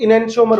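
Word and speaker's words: enantiomer: और अंग्रेजी में क्या बोलते हैं इसको हम लोग, इनेंशियोमर बोलते हैं अंग्रेजी में।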